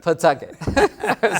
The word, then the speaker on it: Pawtucket: I thought it's pronounced as Pataki. Right. You're like, no, it's Pataki. Pawtucket.